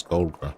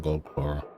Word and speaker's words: Golgra: Yeah, I've been pronouncing the name wrong, so it's Golgra, not Goldclaw.